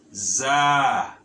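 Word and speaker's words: ظاء: Note that here this letter and this letter have a similar sound or similar pronunciation, but here it is the thal, but this one is za or za, za, za.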